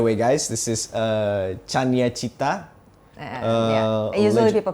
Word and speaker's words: Cania: By the way, guys, this is uh Chanya. Usually people pronounce it Kanye.